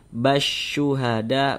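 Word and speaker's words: بالشهداء: Jadi huruf lamnya ini dia tidak ada tanda bacanya nih. Ini tidak ada tanda bacanya nih. Jadi dari ba langsung masuk ke huruf shin ini. Basyuhada, basyuhada, dari ba langsung masuk ke sini.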